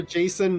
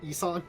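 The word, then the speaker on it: JSON: I prefer Jason, not Jason or Isan.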